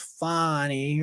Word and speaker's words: Fani: There's all, with her name being Fanny, and of course she wants it pronounced Fani or something like that.